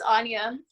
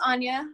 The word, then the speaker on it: Anya: think next is ania anaya sorry if i butchered your name you're fine it's anya um my name's anya i go by her